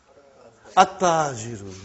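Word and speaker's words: التاجر: How will you pronounce this now? At-tajiru. You did not pronounce al. You did not pronounce lam.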